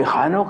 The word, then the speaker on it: ഹാനോക്ക്: ഈ ഹാനോക്ക് എന്ന പദം, ഈനോക്ക് എന്ന ഇംഗ്ലീഷിൽ വേറൊരു ഉച്ചാരണവും കൂടി അതിനുണ്ട്. അതിൻ്റെ എബ്രായ രൂപത്തിൽ ഹാനോക്ക് എന്ന് തന്നെയാണ്.